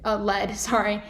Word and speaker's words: lead: So they're pronounced exactly the same.